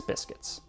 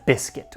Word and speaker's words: biscuit: But we're not eating pasta, we're eating Prince biscuits. Which makes me ask, what is a biscuit, or biscuit if you want to pronounce it incorrectly?